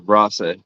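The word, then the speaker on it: wrasse: the fish it's called the Ross Ro well Ross but it's spelled w a SS e um all all of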